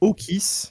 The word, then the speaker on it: Okis: s'appelle Okis. Ça s'écrit O-K-I-S.